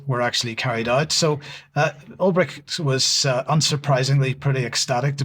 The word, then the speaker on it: Ulbricht: This follows the executive order releasing the Silk Road founder, Ross Ulbricht, is that how you pronounce his name? Yep. Ulbricht was convicted in 2015 of involvement in narcotics and money laundering.